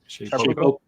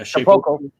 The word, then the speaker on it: Shapeoko: Shapeoko. Yeah, Shapeoko.